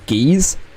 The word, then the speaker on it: Gyz: Jizz and Bruv. Yeah. Jizz and Bruv. Yeah, Bruv and Jizz is the best combo. Right, I looked up after. His name is actually pronounced Geese.